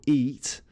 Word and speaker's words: eat: Here the second letter is A, and that's silent. So it's the first letter, O and E, which are pronounced in the examples. Okay, so oat, the O is the vowel which dictates how you pronounce it, and eat, it's the E. So when two vowels go walking, the first does the talking, all right?